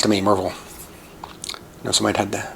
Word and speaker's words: Maryville: next one is pronounced, locals will call it Maryville. I know you're going to say Maryville, and it's Maryville, but it's Maryville. People say it super fast and quickly like that, and I know several